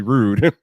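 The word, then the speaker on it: Rode: going to forget that it's actually rude like that's just i don't know it just comes off my tongue so unnaturally i i understand that that's probably that that probably is the uh correct pronunciation but it's just so unnatural calling it rude caster or rude it's just weird so i'll probably keep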